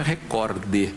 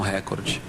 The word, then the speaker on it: recorde: Outra palavra que eu acho estranha também é recorde. E é o certo, né? A pronúncia oficial aí dos dicionários é recorde, paroxítona e não recorde.